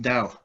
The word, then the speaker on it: Tao: So you'll hear the word Tao come out. Really, it's pronounced Dao.